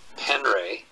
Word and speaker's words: Penre: And so that's Wes Penray, And it's spelled W-E-S, Penre, P-E-N-R-E.